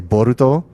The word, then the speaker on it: Boruto: But when I said the name, I rolled the R to say Boruto. And he goes, oh, wow, you actually you say it properly.